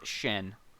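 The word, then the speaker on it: שין: Which, actually pronounced shin, in modern Hebrew.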